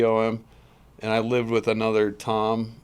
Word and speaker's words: Thom: fun of your name your name is at least to my understanding is spelled t h o m yeah so why is there an H in Tom because my name's Thomas oh so when you shorten it most Toms are Thomas's anyway yeah usually just go